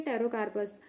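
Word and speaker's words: Pterocarpus: ट्री है ठीक है टैरो कार्पस और उसके पी साइलेंट होता है यहां पे बायोलॉजिकल सोर्स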